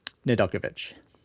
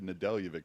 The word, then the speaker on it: Nedeljkovic: A Or 5-0 How do you pronounce his name again? Nedeljkovic. Nedeljkovic. Okay. I don't know who the hell said Nedeljevic, but I've just hung on to it with all that it's okay.